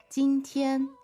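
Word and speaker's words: 今天: So the first word is, 今天，今天 two first tones.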